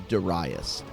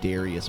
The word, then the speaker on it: Darius: Which I know I'm saying it wrong. The actual pronunciation, the actual Japanese pronunciation is Darius. But that is really hard for me to say after saying it Darius my whole life.